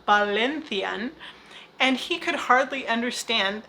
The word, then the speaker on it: Valencian: were speaking in valencian which by the way is pronounced ballinthian and he could hardly